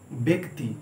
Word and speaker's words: ব্যক্তি: ব্যক্তি। ব্যক্তি বানান কি? বয় জফলা ফয়তয় হসি, ব্র্যাকেটে যেটা রয়েছে এটা হচ্ছে উচ্চারণ, শুনতে অনেকটা একারের মতো লাগছে।